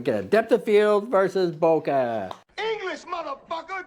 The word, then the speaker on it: bokeh: at the end of boka because people were mispronouncing it they say b k e and they call it Boke like a bottle of coke just like